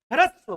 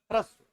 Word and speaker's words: ह्रस्व: रसिक र, और इसमें ह आधा है और र पूरा है। अब उच्चारण करो ह्रस्व, बोलो ह्रस्व।